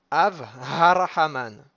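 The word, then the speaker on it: אב הרחמן: Av harahaman. Donc av, il faut le découper de harahaman pour bien faire ressortir le he et pas avaler le he qui se trouve entre les deux.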